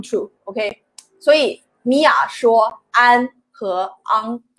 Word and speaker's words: 昂: 所以 Mia 说安和 on. The first one is an, the second one is on, yeah. This sound, I know this sounds so similar, but we pronounce it differently, and they mean totally different things.